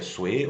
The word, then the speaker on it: Sui: ser breve essa essa dinastia Sue ou se escreve sui as os esses dois